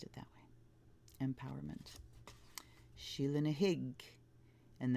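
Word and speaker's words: Sheela na gig: it that way empowerment she'll in a hIgG and that is how it's pronounced in the Gaelic Sheila dig desperation Scottie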